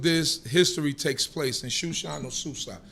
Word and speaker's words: Shushan: history takes place in shushan or Susa shushan is the way that we pronounce it as Hebrews Susa is the way